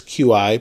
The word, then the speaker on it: Qi: And we also have wireless charging built in, so if you have a Qi charger, or you also may see it as QI, but it's pronounced Qi, it will allow you to wirelessly charge the Nexus 7.